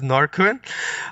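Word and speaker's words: Norrsken: I am Mindful and I'm mispronouncing norskin it's because I am hopeless at pronouncing the actual name which is norquin uh but magali yes yeah so I I think also that the swedes say Northern I believe but I also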